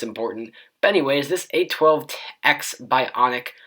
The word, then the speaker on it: A12X: But anyways, this A12X Bionic, I almost called it the A1210 Bionic because I've been used to looking at iPhone 10 and pronouncing it that way.